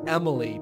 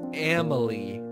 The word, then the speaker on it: Amelie: say it it's like it wants to be Emily but it's Amelie Amelie and the cake